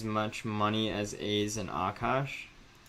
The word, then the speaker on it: Aakaash: just says i mean aka sh is like akash or akash my name is akash so it's like a long a you extend it it's not the most